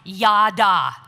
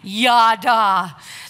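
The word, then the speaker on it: ידה: the hebrew word used here for praise is pronounced ya da say it with me ya da this where this word literally means to revere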